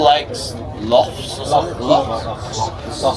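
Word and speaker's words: Lough: Loch. Scottish is loch, but it's spelled different in Ireland. Loch. In Scotland, but Ireland it's L-O-U-G-H. Same pronunciation. Same thing, loch.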